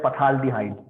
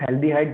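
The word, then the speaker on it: phthalaldehyde: चलिए एक और जबरदस्त इंपॉर्टेंट, थैल्डिहाइड, जिसको हम पढ़ते हैं पथाल्डिहाइड, बट इनफैक्ट इट इज थैल्डिहाइड, जहां पे 2 CH आजू बाजू में होगा, राइट, 2 CH आजू बाजू में होगा, उसको हम कहते हैं थाल्डिहाइड, पी साइलेंट, थाल्डिहाइड, राइट।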